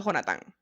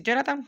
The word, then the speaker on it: Jonatán: Ahí lo coloca Jonatán, sin H. Yo por eso lo pronuncio Jonatán, ¿vale? Si Jonathan, bueno, sorry, baby. Jonatán para mí.